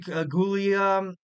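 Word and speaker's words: Giulia: Kirby I feel like gulia Julia I think it's Julia you pronounce it um she was signed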